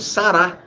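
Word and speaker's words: Sarah: Porque entende que o H, ele puxa a tônica forte para a sílaba. Então, ela não falou. Quando a pessoa põe Sara com H no final, está falando Sará.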